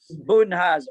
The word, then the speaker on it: Budenholzer: Now, Budheiser, I'm not sure how you say his name. Budenholzer.